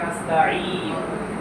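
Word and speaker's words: نستعين: ইয়াকা না'বুদু ওয়া ইয়াকা নাস্তাঈন। নাস্তাঈন শব্দটা চাপ দিয়ে বলতে হবে, আইন অক্ষর আছে, অর্থ হবে নাস্তাঈন শব্দের অর্থ হলো সাহায্য।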